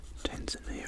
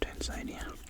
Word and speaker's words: Tanzania: Tanzania or Tanzania depending how you pronounce it.